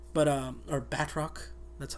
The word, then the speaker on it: Bardock: that they have that her she's like with Bardock and like uh this other guy, I forgot his name, but uh or Batrock, that's how they pronounce it.